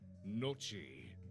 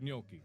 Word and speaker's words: gnocchi: Gnocchi, but it's spelled with a silent G.